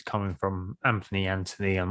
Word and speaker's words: Anthony: He's got the H, and I'm very strong about making sure that it's Anthony if there's a H.